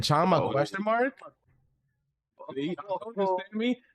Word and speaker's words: chama: Chama, pronounced chama, is a versatile Portuguese slang term meaning flame, let's go, or call to action.